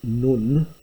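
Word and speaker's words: νυν: now therefore then now this actually isn't none which is noon with a long accent this is actually the enclitic nun with a short u which doesn't occur normally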